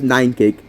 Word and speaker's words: Nynekic: Yes, it's pronounced Nynekic.